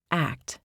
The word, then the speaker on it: ACT: This book introduces you to acceptance and commitment therapy or act pronounced act which offers a radical